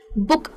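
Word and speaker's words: book: यानी की छोटा यू बुक अब बुक में स्पेलिंग में डबल डबल ओ है लेकिन बोलते हैं इसको छोटे यू के साथ है बुक तो ये कॉन्सेप्ट रखना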